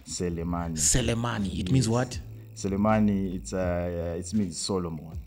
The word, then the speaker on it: Selemani: So Musa, is the name is pronounced like how? Selemani.